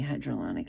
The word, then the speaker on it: hyaluronic: I mean, it's like less than $10, but also I want to try the ordinary hyaluronic acid. Hyaluronic. Okay, I was pronouncing the R.